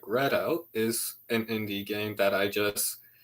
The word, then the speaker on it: Redout: Readout is obviously one that I watched that whole series that you did on am I pronouncing that? Is it Readout or Redout? Because Read out. Redout.